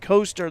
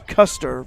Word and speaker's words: Custer: I pronounced it Coaster the first time I saw that last name, but apparently it's Custer, what I understand. So not C-U-S-T-R like the Civil War general.